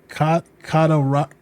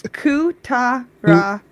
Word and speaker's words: Kutaragi: Kataragi. Is that how you pronounce it? I think it's Kutaragi.